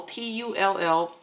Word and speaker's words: tulle: So this is the one they call Tulle, T-U-L-L-E, Tulle. You guys even teach me how to pronounce that one.